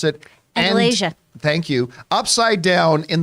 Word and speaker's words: Andalasia: the real world and, boy, how do you pronounce it? Andalasia.